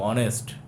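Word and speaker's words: honest: ভালো করে দেখ অনেস্ট। এইচ এর সাউন্ডটা দেখো। ঠিক আছে? আওয়ার অনেস্ট এগুলো যখন হবে তখন এর আগে এন হবে।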